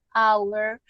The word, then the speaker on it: hour: dije a ustedes que la h sonaba como una j porque cuando yo digo hour no la pronunció con j no digo house porque no porque resulta